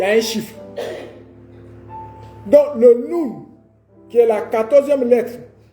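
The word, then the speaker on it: נון: Mais qui est dite, qui se prononce Nun en hébreu.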